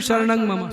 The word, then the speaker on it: शरणं मम: श्री कृष्ण शरणं मम, इसको भी अशुद्ध बोलते हैं। कोई शरणम बोल रहा है, कोई मम कर रहा है, कोई ममः।